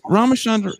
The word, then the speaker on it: Ramachandran: Miss Ramachandran, I'm sorry, I almost said your name wrong.